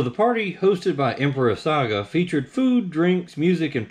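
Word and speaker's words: 嵯峨: an 812 hosted by emperor saga or sega s-a-g-a but sakura were revered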